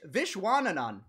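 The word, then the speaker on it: Viswanathan: can't say visual it's vishwanan people call him this one Ant-Man too no they don't they call them dishes people call him vishy on the games that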